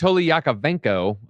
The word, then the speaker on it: Anatoly Yakovenko: And it's Anatoly Yakovenko, real quick. And, that's how you say it.